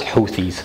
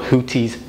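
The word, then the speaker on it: Houthis: and one last thing it's pronounced huies not hoties Hooters or anything else you might be hearing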